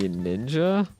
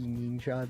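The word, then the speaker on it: Neenja: I Want to Be Ninja? Ninja. N-E-E-N-J-A. I want to be... Spell that again? N-E-E-N-J-A. Like if you're saying ninja in a racist Chinese accent.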